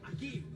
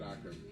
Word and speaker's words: Akim: It's spelled Akim, but it's Akim. pronounced Akeem. Akeem. Yeah, I would have said Akam.